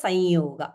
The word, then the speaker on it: Samyoga: It's pronounced as Sanyoga. It is Samyoga, yes, but it's not Sham, yeah. It's the proper pronunciation is Sanyoga. That's why we say Sanyoga.